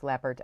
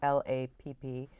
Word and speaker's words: Lappert: I might have said the name wrong at first. It's Laffert, Lappert.